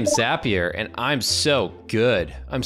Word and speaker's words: Zapier: that it's not pronounced zapier it's pronounced zapier which apparently rhymes with happier which is not what